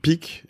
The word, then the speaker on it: Picq: On te suit sur LinkedIn, avec Pic, qui s'écrit PICQ. C'est Q, parce que tu sais que j'ai un autre Pic iconique sur mon podcast Génération Do It Yourself, voilà, avec donc un K.